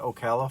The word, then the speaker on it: Ocala: I think that's how you say it, Ocala, Florida.